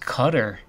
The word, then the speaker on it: Qatar: it's in uh Qatar I heard it's pronounced cutter from someone that lived there so I don't know if that's true or not if you guys know